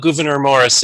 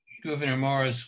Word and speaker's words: Gouverneur Morris: a little bit about governor morris and thank you for giving me the pronunciation you told me it's a dutch name and i should know